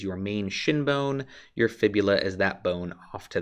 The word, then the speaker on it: fibula: A lot of folks mispronounce fibula because they want it to rhyme and they will say fibia, but it is your tibia and your fibula that compose your lower leg.